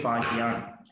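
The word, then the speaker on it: Fa-Hien: ஃபஹியான், okay, சில புக்ல எப்படி கொடுத்துருப்பாங்க, சில புக்ல ஃபாக்ஸியான் அப்படின்னு கொடுத்துருக்காங்க. பட் ஜென்ரலாகவே இந்த ஃபஹியான் மேல நான் கொடுத்துருக்கேன் இல்லையா, இதுதான் correct. Okay, this is the correct term to pronounce. Okay, ஃபஹியான்.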